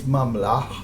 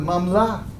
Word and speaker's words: Mamlach: We hear the difference in the dialect from Eretz Yisrael that pronounced the place Mamlach, and the Babylonians who didn't pronounce that Chet, and they called it Mamlah.